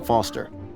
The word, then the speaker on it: Foster: pickle so it does I'm Foster I'll remember that easy because your name rhymes with fossil and you're old thanks